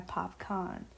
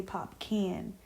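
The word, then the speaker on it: Popcaan: of this song by PopCon. And I remember I used to mispronounce mispronunciate his name. Um I used to say Pop can. So yeah. Now, I know that it's popcon, but yeah, I'm thinking of the song Everything is nice.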